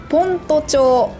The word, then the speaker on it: 先斗町: ますさて問題ですこれはなんと読むでしょうか正解は先斗町です読めないですよね覚えなくても大丈夫